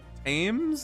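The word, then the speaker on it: Thames: Perhaps they fall into the the tames, I believe that's pronounced, and drown.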